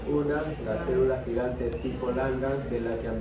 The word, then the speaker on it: Langhans: Langhans, ¿no? Lang con G y termina en Hans. Langhans. Si quiere lo pronuncian como Langhans también, es igual.